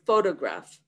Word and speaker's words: photograph: three levels of stress all three can be seen or heard in the word photograph the first syllable foe is the major stress it can also be